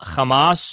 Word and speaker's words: Hamas: gibbering the thing about Hamas and FYI if you're a Semite indigenous to the region it's called Hamas you don't say Hamas okay that's what that's the semites indigenous to the region pronounce it but in any case